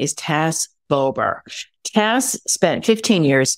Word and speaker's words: Tas: And what I love is how you say Tass as in sass, not Taz.